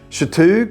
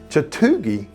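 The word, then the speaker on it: Chatuge: Chatoog if you sound like a local. Chatoogie if you sound like a visitor. Both fine.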